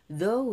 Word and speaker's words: though: 자, though도 그냥 though가 아니라 TH 발음이라 though we danced for one moment.